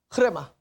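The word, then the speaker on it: ῥῆμα: 그래서 예, 여기에 파스 흐레마 모든 말씀해서 다른 데에서는 타 흐레마타 그렇게 얘기해요. 영과 생명의 말씀이 있고 크레마 한국에서는 주로 레마라 그러죠. 레마. 레마는 정확한 발음이 아니고 뭐라고요? 흐레마. 흐레마.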